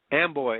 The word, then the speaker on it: Amboy: Amboy, A-M-B-O-Y. Just a second. I got to get my glasses here. Can you read that label? Is that 772? P.O. Box 772, Amboy, Washington.